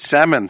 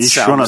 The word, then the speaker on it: salmon: is it salmon it's salmon not Salon salmon it's salmon was it Caribbean Caribbean